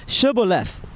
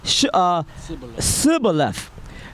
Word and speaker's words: Shibboleth: If he said, Nay, then they said unto him, Say now Shibboleth. And he said, Sibboleth, for he could not frame to pronounce it right.